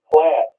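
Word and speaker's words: plait: p l AI T is pronounced plat like black people plat their hair yes I did I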